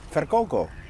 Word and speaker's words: Virkoko: En hoe spreek je jou uit? Verkoko.